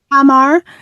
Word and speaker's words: Tamar: Tamar. The emphasis on the first syllable.